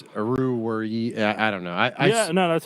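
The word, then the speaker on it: Oruwariye: I'm not even gonna try to pronounce his last name. Yeah, no, it's Aruwari.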